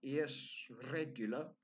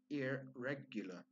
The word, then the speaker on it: irregular: here is an irregular notice that I don't pronounce the arse English is a non-rhotic language so it's not ears regular as we would say maybe in Turkish it's actually ear regular a very very soft R sound then in